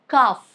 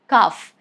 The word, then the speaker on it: calf: Letter L is silent if it comes after A, like calf, calf. There is no sound of L.